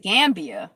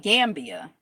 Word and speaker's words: Gambia: Gambia. What was I saying? Gam. Like Pambia. Gambia.